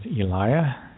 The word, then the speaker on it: Elijah: Hebrew language either so we mispronounce all the names of the Hebrew prophets or prophets like Elijah he was actually known as Alya and Enoch was known as Henoch so Emmanuelle Emmanuelle is